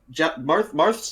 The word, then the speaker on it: Marth: Marth's Japanese name is Marsu, so it could have been either Mars or Marth, and at the time it was considered to be believed to be Mars.